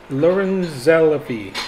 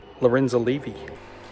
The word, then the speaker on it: Lorenzalevy: later of course that i totally butchered the pronunciation of that asteroid it should be something more like lorenzo levy okay the target star